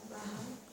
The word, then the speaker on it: Bauhaus: Las Bauhaus. Normalmente la H suena, pero supongo que porque en alemán se dirá así.